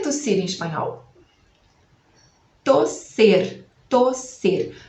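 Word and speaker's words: toser: Tosser. Tosser. Vai ser com O e um S só, porque não tem 2 S em espanhol. Tosser.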